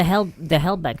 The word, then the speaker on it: Halbach: Well, the Halbach family is pretty much in that position too. Hallback. Like, yeah. Oh, Halbach. Sorry. Hellback. Wait, what did I say? Halbach. Hellback. Oh, Halbach. Halbach.